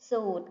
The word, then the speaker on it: สูตร: ท่อง สูตร คูณ ค่ะ คำ ว่า สูตร มี พยัญชนะ ที่ ไม่ ออก เสียง คือ ร เรือ ค่ะ ต่อ ไป ภาพ